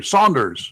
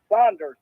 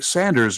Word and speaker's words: Saunders: how are you we got the name pronounced correctly Saunders yes yes yes Saunders not Sanders right apparently Sanders is also an accepted pronunciation of s a